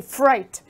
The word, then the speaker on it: fright: first word is fright notice you don't pronounce the G you say fright fright is like the